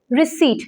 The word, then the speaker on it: receipt: receipt is wrong beta p in this word is silent the correct pronunciation is R I re and seat SW is Siege it is receipt not received it is